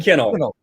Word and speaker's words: Kinel: right and you said it right uh kennel okay awesome if i were a kid i